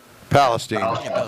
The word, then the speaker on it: Palestine: No, we ran at, I don't want to mess up the pronunciation here. Is it Palestine? Yep. Palestine.